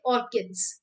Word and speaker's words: orchids: Now, or you can say orchids. Okay, basically it's pronounced as orchids. Okay. Now, H is एच is silent. ठीक है, सिर्फ ऑर्किड्स कहते हैं।